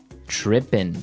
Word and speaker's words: trippin': As you notice, it's trippin'. It doesn't have the G at the end, which isn't really grammatically correct, but that's kind of the way it's pronounced. Yeah, we would never say the G.